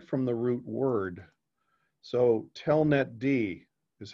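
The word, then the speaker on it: telnetd: with a service because the letter D is always on the end and it's pronounced separately. It's stated apart from the root word. So telnet D is how you would pronounce that, inet D, right?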